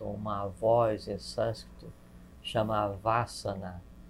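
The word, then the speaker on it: Vâsana: Tem uma expressão em sânscrito, uma voz em sânscrito, chama Vasana, V A circunflexo S-A-N-A. Esse A, a gente pronuncia um A aberto como casa, mas seria um A fechado, quase como câmara, uma mistura entre câmara e casa.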